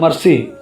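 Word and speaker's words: مریسیع: تشریف لے آئے۔ غزوہ مرسی، اس لفظ کا تلفظ یوں ہے، میم مضموم را مفتوح، دونوں یا ساکن، ان کے درمیان سین مکسور اور آخر میں عین محملہ۔ یہ بنو خزاع کے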